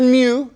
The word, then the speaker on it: mu: So Greek letter mu, like mew, mew, like little kitty, okay?